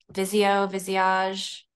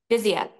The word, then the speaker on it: Visia: Visage. I never say it right. The Oh, Visia. Visia.